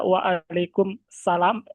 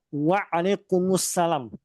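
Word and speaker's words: وعليكم السلام: Ustaz yang rajih cara bacanya adalah waalaikumussalam digabung. Ini faedah ini saya dapatkan dari Syekh kami juga dipia Bunda menjelaskan ee cara baca yang benar adalah waalaikumus ya digabung waalaikumussalam untuk cara baca yang benar.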